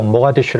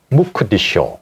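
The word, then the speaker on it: Mogadishu: 가급적으로 추정을 하면은 맞아요 소말리아 수 모가디슈 영어식 발음이에요 우리가 모가디슈 모가디슈 하잖아요네 소말리어 소말리어 있을 거 아니에요 무크 디쇼 오 그 마하 타이쇼고 더 비슷하죠네 아랍어는 무카 디슈 아랍어에서 크 크 후이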